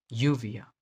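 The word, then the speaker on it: lluvia: दिखे उसको वाई से रिप्लेस कर दें, जैसे यूविया, यूविया। कई जगह पे इसको ज भी बोलते हैं, जूविया। डबल एल को य, ज और श बोला जाता है, लेकिन अभी इसको य प्रोनाउंस करना है हमको, यूविया, यूविया।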